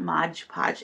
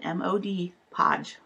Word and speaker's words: Mod Podge: But this particular brand is often mispronounced. So many times people ask for or talk about it calling it Mod Podge. It's not Mod Podge. It's Mod, M-O-D, Podge, Mod Podge.